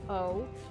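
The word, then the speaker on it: eau: For example, E-A-U is pronounced O. E-A-U-X is pronounced O too, so much shit is pronounced O.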